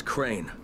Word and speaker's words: Crane: No, my name's Crane. From the video store. Crane rhymes with train and brain and sane and crane and rain and rain and the other kind of plane.